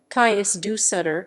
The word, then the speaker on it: Cais do Sodré: station the kai's do solder railway station portuguese pronunciation kais du sutter is an intermodal railway station in the civil